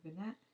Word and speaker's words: vignette: But that's something Vignette.